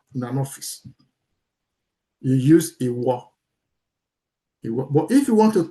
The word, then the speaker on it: ìwọ: If you want to say you, ìwọ, ìwọ, ìwọ. That's the way you pronounce it, ìwọ.